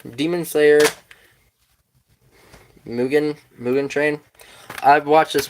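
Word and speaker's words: Mugen: the third season mugan it's pronounced mugan mugan thank you keep that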